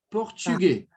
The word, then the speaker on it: portugais: Je ne parle pas portugais. Português. Então, esse S do sufixo aqui, a gente não vai pronunciar.